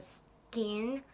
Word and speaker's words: Skagen: which is right below Skagen or skein as they say it in Danish and I know I but not said that totally right Danish is very hard to pronounce but it's right below